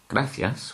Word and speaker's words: gracias: even though we pronounce the word gracias as gracias, with the C sounding as a th, the word coche has got this combination.